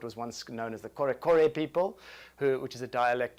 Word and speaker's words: Kore: It is less played than the mbira za vadzimu because it's basically what was once known as the Kore people, which is a dialect of Shona.